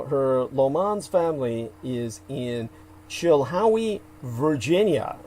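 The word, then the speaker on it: Chilhowie: Lan's family is in Chila Virginia which is spelled c h i l h o w e which of course Peter Moon would see a Howard in that as in hoe Chila Virginia she's going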